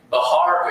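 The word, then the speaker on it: Bexar: I said you were saying Bahar. Is that spelled B E S A R? Yes, that's my understanding of the proper pronunci pronunciation, sir. That's right. So, that would be the Spanish pronunciation, right?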